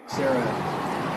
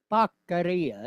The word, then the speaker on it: Becerra: If I could ask just one last question about Javier Becerra announced his candidacy for governor. So the dude's asking him about Javier Baccaria. He just mispronouncing his name.